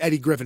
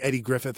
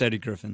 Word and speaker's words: Eddie Griffin: I think that's his that's how you say it's Eddie Griffin it's not like Eddie Griffith or something no it's Eddie Griffin okay like Undercover Brother